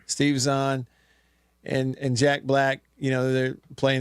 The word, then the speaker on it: Steve Zahn: Steve Zahn. Steve Zahn and Jack Black, they're playing these 2 characters